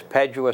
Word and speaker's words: Padua: It's Padua Stable. It's a lot of people call it Padua, P-A-D-U-A, but it's pronounced Padua, not Padua.